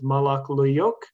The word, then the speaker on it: Molok Luyuk: There's the pronunciation of this Patwin name, which is Molok Luyuk.